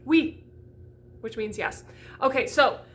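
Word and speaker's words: oui: w sound instead of an u sound like we which means yes okay so then we're going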